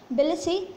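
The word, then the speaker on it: Tbilisi: next है Cyprus Nicosia euro, Georgia बिलसी लारी, बिलसी में टी एस का क्या है, साइलेंट है, तो बिलसी लारी, इंडिया न्यू दिल्ली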